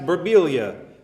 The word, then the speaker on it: Birbiglia: Hey, you know your name's supposed to be pronounced Birbiglia."